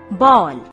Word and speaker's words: बॉल: इन सभी शब्दों में जिस वर्ण के ऊपर आधा चांद बना है उसका उच्चारण औ किया जाता है। जैसे बॉल।